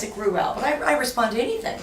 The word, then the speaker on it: Gruwell: I almost started to say Gruwell. Well, I do pronounce it Gruwell, but I respond to anything.